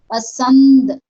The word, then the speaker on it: पसंद: पसंद, पसंद, है ना, नाक से प्रोनाउंस हो रहा है, पसंद।